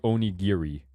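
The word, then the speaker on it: onigiri: you're just in time we're learning how to pronounce jelly fil Donuts uh phonetically which apparently is actually Oni giri Oni giri Oni Oni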